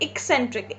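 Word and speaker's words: eccentric: Okay, the correct pronunciation is word एक्सेंट्रिक। इक बोलना है आपको, उसको इक ऐसे बोलना है आपको, ठीक है।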